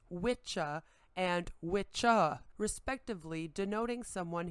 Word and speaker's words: wicca: or whis feminine pronounced witcha and witcha respectively denoting someone who practices sorcery and from kraft meaning craft or skill this term is often mispronounced as wicca when discussing the modern